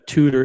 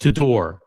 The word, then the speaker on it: Tudor: And uh tutor is pronounced tudor.